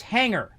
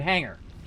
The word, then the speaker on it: hanger: where i'm from it's hanger you don't hear the g the g is silent in the word hanger right but where she's